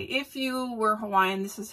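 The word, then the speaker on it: Hawaiʻi: just as an FYI the actual word Hawaii in Hawaiian as pronounce Hawaii because W's are pronounced with a V so it's Hawaii do you care I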